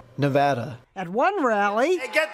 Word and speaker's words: Nevada: his own pronunciation NADA nobody says it the other way it has to be Nevada actually Donald wrong this is right Nevada at one rally hey